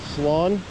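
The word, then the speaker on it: слон: Sloan. Lawn. Like sloth. N at the end.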